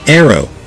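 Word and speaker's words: ARRW: launched rapid response weapon our arw pronounced aero hypersonic weapons to move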